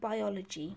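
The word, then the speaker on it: Buyology: here in the UK called biology which is spelt B u y ology I think there's more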